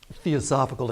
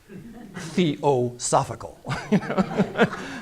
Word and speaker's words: theosophical: what I do is helping people to pronounce theosophical it's like theological philosophical it takes a while